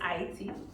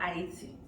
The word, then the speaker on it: Haiti: I do have to say, it's Haiti. We do not pronounce the H. So Haiti, and that's it.